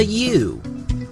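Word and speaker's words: ewe: A female sheep is called a U. A U. That's what a female sheep is called. The spelling is a little weird with that. It's spelled E W E, but it's pronounced U.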